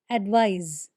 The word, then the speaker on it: advise: Advice with a C is pronounced with an S sound, advice, whereas the other one has a Z sound, advise, just a slight difference.